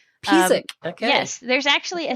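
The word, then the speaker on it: Písek: You say it Pizik. Pizik.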